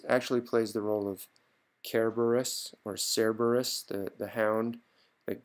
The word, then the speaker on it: Cerberus: Cerberus or Cerberus, but the Latin Romans pronounced it with a hard C, actually, Cerberus, but we usually call it Cerberus, the dog with 3 heads.